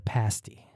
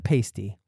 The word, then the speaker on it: pasty: culinary scene, is the pasti. Not the pasty, the pasti. I made sure I pronounced that correctly so none of the Michiganers jump down my throat.